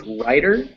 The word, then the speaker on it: writer: They are pronounced the same. You hear how both of them have become D's.